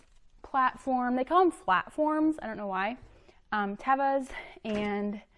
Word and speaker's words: Teva: Tevas, and that is how you say it, Teva. I know a lot of people say Teva, but actually, like on their YouTube and their Instagram, it is Teva.